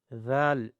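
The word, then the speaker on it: ذال: Touch the tip of tongue with the upper two teeth edges. Zal. With the soft voice.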